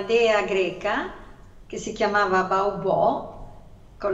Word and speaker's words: Baubò: Questa dea è una dea greca che si chiamava Baubò, con l'accento sulla O, e già faceva ridere questo